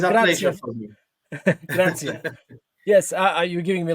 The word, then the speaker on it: grazie: Grazie, just grazie. Grazie. Sound like gracias in Spanish, but it's Yeah, grazie. grazie. Ah, Grazie, nice. prego. Oh, It's a grazie. pleasure for me. Grazie.